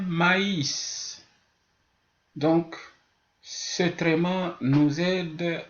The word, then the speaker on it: maïs: les i et bien par exemple au lieu de dire mais le mois de mai ou mais avec MAIF si on met le traitement ça devient maïs donc c'est vraiment nous